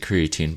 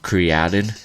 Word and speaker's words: creatine: it's actually pronounced like the uh original everyone pronounces it creatine but um created is like the way to say it um